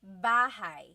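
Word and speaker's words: bahay: me b b bah you might notice that the spelling is a y at the end so it looks like bah but it's pronounced bah that a y combination is bah bah now you might also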